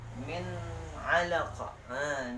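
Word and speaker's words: مِنْ عَلَقٍ: Contohnya dari kita ambil min alaqa. Min alaqa. Nah, itu kita lihat nih. Nun sukunnya bertemu dengan ain ini ya. Bertemu dengan ain. Jadi tidak boleh didengungkan. Bacanya harus jelas dan terang.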